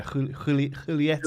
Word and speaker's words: Julieta: Julieta is pronounced with a H. Yes. Somebody corrected me on my video, actually. Yeah, Julieta. I think you kind of roll the H.